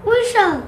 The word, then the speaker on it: whistle: How do you pronounce this word? Whistle.